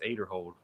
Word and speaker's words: Aderhold: He says it's Aderhold. Everybody used to pronounce it Aderhold, and he came out and corrected everybody, and everybody's still trying to fix it in their brain.